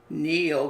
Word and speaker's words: kneel: E-E-L, we have feel, kneel, K is silent, heel, and steal.